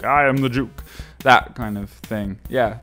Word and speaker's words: Duke: But the first word is like D-U-K-E rather than J-U-K-E. So it's like Duke. I am the Duke.